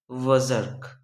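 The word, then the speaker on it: berserk: जो पहला वर्ड है हमारा वज़र्क। देखिए, ये थोड़ा प्रोनाउंसिएशन थोड़ा सा आप ये जो आर है ना उसको साइलेंट करके पढ़ना है। ठीक है, वज़र्क।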